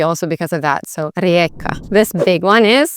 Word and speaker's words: Rijeka: that along those lines, because this J is a little bit tricky because it sounds like a Y and not a J. So you'd say Rijeka.